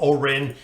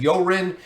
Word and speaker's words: Eorin: with oren and i i've heard a lot of different ways for the pronunciation of his name i'm going to go with orin some people said iren some people said yorin i'm not exactly sure